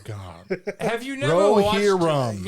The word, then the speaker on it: Rohirrim: Rohirrim. Yeah, Rohirrim. It's Okay. exactly how it's spelled.